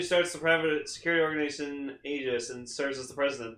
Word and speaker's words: Aegis: Like it says Aegis, like it says EGIS, but then in quotes, it's like this is how you pronounce it. Okay. So it's Aegis.